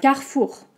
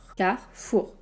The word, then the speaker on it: Carrefour: mais c'est pas grave carrefour car fou ok car comme un quart et four comme un four magique mais je sais car le r est pas très fort fou carrefour je vais faire mes